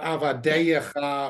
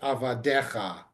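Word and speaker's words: עֲבָדֶיךָ: So it's not avadeyecha or anything like that, it's just avadecha.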